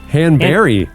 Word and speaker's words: Hanberry: Han Bur, not B U R Y. It's now it's B. It's actually pronounced Bur.